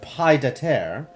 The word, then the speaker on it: pied-à-terre: Not even French gives you silent D's. Hang on. Pied à terre. It's not a silent D. It's just not part of the same syllable.